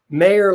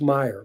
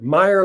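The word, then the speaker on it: Meyer: supplies and equipment to cover Lan's Act activities mayor Lansky no it's pronounced Meer Meer Lansky was asked to contact Charles lucky luchano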